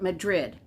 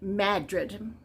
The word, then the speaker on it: Madrid: just like Madrid but you don't call it Madrid it's in in this little town it's pronounced Madrid Kyler Kreider and his team have been tracking